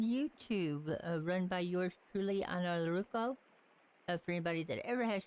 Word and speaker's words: Ainurauco: run by yours truly, Ainurauco. For anybody that ever has trouble pronouncing my name, because it is a little weird, just call me, but it's actually pronounced Ainurauco.